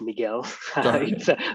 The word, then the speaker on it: Miguel: the way my i'm my name's pronounced miguel without the you but yeah um for